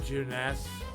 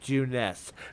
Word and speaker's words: Junes: Next stop, Juness. And for the record, chat is pronounced Juness, not Junes.